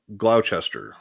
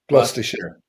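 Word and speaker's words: Gloucester: And that's a And then uh Glowchester Glowchester. Never been there in my life. Is that Did I pronounce it?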